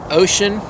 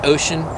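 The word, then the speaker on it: Wouxun: It's pronounced Ocean. So Wuxon, W-O-U-X-O-N or U-N or something like that, but it's pronounced Ocean. It's another ham radio, kind of like the Baofeng U5R sort of.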